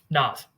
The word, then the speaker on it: Nas: Nas or Nas? How are you pronouncing it? Nas.